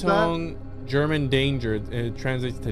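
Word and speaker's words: Achtung: U2's putting on is called the Octung Baby Live at Sphere.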